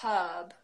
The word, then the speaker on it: herb: age yeah there's no so we would say the H but we were we wouldn't pronounce the R so we would they herb herb I feel some